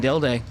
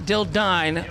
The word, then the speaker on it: Dilday: You say his name was Dilday, not Dildine.